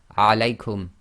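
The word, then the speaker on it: عليكم: Now when you pronounce this, you have to get the lengths right. The diphthong must be too long, so you have to go alaykum. You can't say alaykum.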